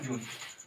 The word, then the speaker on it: June: अब क्या गया, जून, जून तो आपका नॉर्मल है, JUNE, यहाँ पे ई क्या है, साइलेंट।